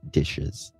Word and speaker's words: DHS: Our CPS is under DHS here and it's pronounced dishes.